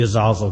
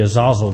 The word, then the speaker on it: Azazel: this is over because it looks like a long a to me but they say it should be a short a so I know I'm